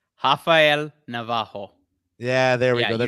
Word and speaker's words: Rafael Navarro: I was just straight up going to be like Rafael Navarro, but I know that's not how you say it. Can you go hit us with that one more time?